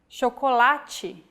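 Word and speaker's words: chocolate: or like this sintu when paired with age forming the digraph ch we have the sound chocolati so as you can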